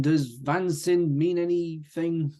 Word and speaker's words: Vansind: Vansind, yeah.